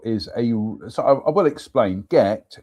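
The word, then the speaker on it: Gight: Gecht Castle, pronounced Gecht. Gecht Castle is so I will explain. Gecht is spelt G-I-G-H-T, so you could say Geicht, but no, it's Gecht.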